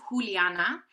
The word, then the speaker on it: Juliana: who i would say my name is juliana it looks like a j but it sounds like an h that automatically like put